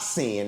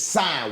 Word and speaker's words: sine: sine wave. He ain't lying. A lot of people know. Tripping. Listen, everything's about frequency and vibration. It's not sin. It's sine wave. Put an E on it.